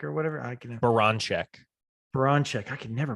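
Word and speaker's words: Baranczak: I mean, and obviously you got the women's basketball coach, Jenny, how do you say, Braznek or whatever? Baranchek. Baranchek. I can never pronounce her name right.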